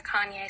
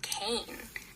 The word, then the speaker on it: Kanye: I have never heard a Kanye song. I used to pronounce his name Kane because I'm a little dyslexic and that's how I read it.